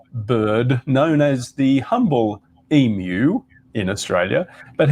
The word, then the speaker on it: emu: known as the humble emu in australia but he pronounced it as emu taking the more phonetical sound of because it is spelled e m u right and one might